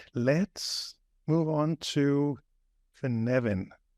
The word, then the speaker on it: Cynefin: let's move on to for Nevin am I saying it right yes it's my knowledge I